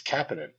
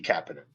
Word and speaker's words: Kapanen: Um, and he insists that it's Kapanin. That Okay. Kapidan himself said, "I'd like it to be Kapinan."